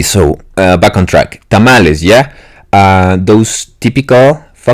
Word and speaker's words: tamal: I don't understand why tamali just don't pronounce the E you're like Japanese people